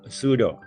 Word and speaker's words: pseudo: U O นะ ครับ ตัว P เนี่ย silent ไม่ ออก เสียง นะ ครับ ก็ ออก เสียง เป็น sudo suo นะ ครับ ก็